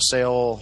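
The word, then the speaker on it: Seoul: anything uh and uh i think it's pronounced seal sale says i don't remember s-e-o-u-l south korea uh south korea's military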